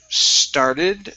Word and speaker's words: started: Next up, we have the word started. Let's see here. Started on. Where is that at? Started picking. Oh, there we are. Yeah. Okay, started. Make sure to pronounce the ED ending.